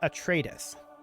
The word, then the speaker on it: Atreides: It is pronounced Atreides.